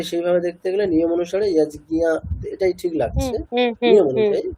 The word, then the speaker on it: যজ্ঞ: তাহলে এটা আমরা দুটো ট্র্যাডিশনই পাই, একটা যজ্ঞিয়া, দুটোই পাই আমরা, তাহলে দুটোই কারেক্ট।